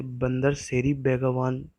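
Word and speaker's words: Bandar Seri Begawan: उसे कहा जाता है बंदर सेरी बेगावान, इसे बंदर सेरी बेगावान से प्रोनाउंस किया जाता है, और जो वहाँ की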